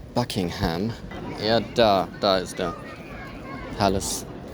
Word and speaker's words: Buckingham: Ich sehe zum allerersten Mal den Buckingham Palace in Person. Das war auch wieder eine Northern-Aussprache, ist ja eher Buckingham.